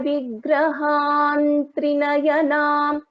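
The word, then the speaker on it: विग्रहं त्रिनयनं: So when we pronounce this, Sinduraruna Vigraham Trinayanam, because the fifth letter of Tavarga is na, ta, tha, da, dha, na.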